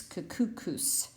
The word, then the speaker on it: Kakuskus: Rhymes with moose, Kakukus.